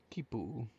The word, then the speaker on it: quipu: How do you How do you pronounce that? Kipu. Kipu.